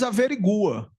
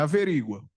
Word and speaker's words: averigua: É estranho, mas é assim que se pronuncia. O juiz averigua. não é averígua, ele averigua se aquilo é ilícito.